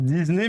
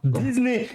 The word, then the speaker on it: Disney: tu commences pas toi Disney il y a un S et après il y a qu'un seul s donc un seul s ça se prononce avec un Z c'est comme WhatsApp WhatsApp c'est WhatsApp et